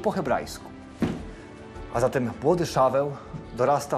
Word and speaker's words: Szaweł: Nadano mu imię Szaul, wymawiane po polsku jako Szaweł, imię pierwszego króla Izraela.